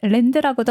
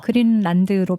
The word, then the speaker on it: 그린란드: 그냥 그 철자로 하면 LAND니까 네. 랜드라고도 할 수 있는데 네. 근데 이제 유럽식으로 발음을 하면 그린란드로 발음을 하겠죠.